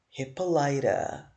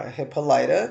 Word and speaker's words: Hippolyta: But it's Hippolyta.